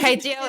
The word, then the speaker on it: kai jiao: Again, Kai jiao it's an is omelet. kai jiao. I said it wrong last time.